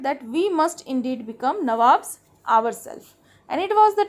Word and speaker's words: Nawab: we must indeed become Nawabs ourselves. And it was the time when the company officials, they have only declared themselves as Nabobs. Actually, they could not pronounce Nawab. They declared themselves Nabob.